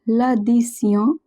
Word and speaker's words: l'addition: Remember, TION at the end of a word is pronounced as sion. So, l'addition, it means a bill.